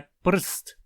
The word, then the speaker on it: prst: Em tcheco, a palavra para dedo é prst. Prst. Não temos nenhuma vogal aí, mas é uma palavra inteira. Mesmo assim, quando falamos prst, podemos, digamos assim, sentir que o som do r está no meio da sílaba.